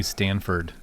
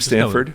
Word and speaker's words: Stafford: It's like everybody calls me Stanford. Stafford? There's no N in my name.